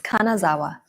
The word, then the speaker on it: Kanazawa: But I can't even pronounce the city where you are staying right now. What is it? Yeah, it's Kanazawa. Kanazawa.